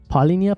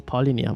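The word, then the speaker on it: Palhinha: I think suspended so Paulina Paul linear polynia nope it's polynia why do I keep saying Paulina I don't even know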